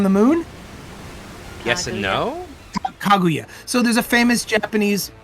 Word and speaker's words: Kaguya: Kaguya.